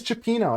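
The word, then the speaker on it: cioppino: Chapo slower please chapeno no chapeno this is chapeno a delicious seafood stew that originated in San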